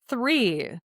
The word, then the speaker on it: three: Anything with the letter R or like three. Three is a really hard one for people because the th most people don't have and then the R and it's all together